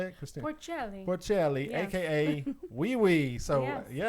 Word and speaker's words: Porcelli: Christina Porcelli, Yes.